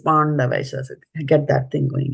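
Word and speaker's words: पाण्डवाः: It is not pan as in the pan, that beetle nut, Pāṇḍu. the beetle leaf. It is Pāṇḍavāś.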